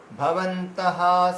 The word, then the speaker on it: भवन्तः: ভীষ্মমে, এই দেখুন ভীষ্মা এভাবে উচ্চারণ করবেন, ভীষ্মা ভীষ্মমেবাভিরক্ষন্তু ভবন্তঃ সর্ব এব হি। আচ্ছা, এখানে এই যে রক্ষান্তু, তারপরে কিন্তু ভবন্তু বলবেন না কেউ, ভবন্তঃ, ভিরক্ষান্তু ভবন্তঃ।